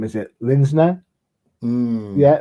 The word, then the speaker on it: Linsner: I can't pronounce his name. Is it Linsner? Yeah, Linsner on covers, and this is the guy that created Cry for Dawn.